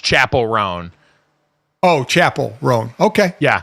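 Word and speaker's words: Chappell Roan: No, it's Chapel. It's Chapel. Think of like a chapel at a church. Chapel Roan.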